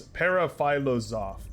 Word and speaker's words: Paraphilosoph: Hold on, I'm pulling up the YouTube channel so that I can say the name correctly. It's Paraphilosoph.